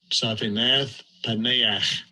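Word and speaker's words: Zaphnath-Paaneah: And I'll let you hear how the name is actually pronounced. Strong's H, 6847. Saphinath Paneach.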